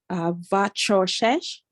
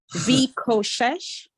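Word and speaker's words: וחשך: Vachoshesh. Vishoshesh. It's not a ch. It's a k. Vikoshesh. Right. So remember, it's rush because of the Shiva. Okay. Vikoshesh.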